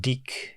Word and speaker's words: DiC: "The incredible world of Deak." Yes, it's pronounced Deick. The company was originally French.